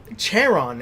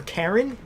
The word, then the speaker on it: Charon: Is that Charon? Charon or Karen? I like to think of it as Karen. I don't know how you pronounce that word. I think it's Charon.